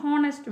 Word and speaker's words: ஹானஸ்ட்: ஏன் அப்படின்னா இது வந்து பாருங்கள், ஹானஸ்ட் மேன் அப்படின்னு நம்ம சொல்கிறோம், ஆனால் இது நார்மலாக எப்படி ப்ரொனவுன்ஸ் பண்ணணும், ஹானஸ்ட் மேன், ஹானஸ்ட்டு அந்த சவுண்டு தான் வரும், அதாவது ஹச் வந்து சைலண்ட் ஆகிடும்.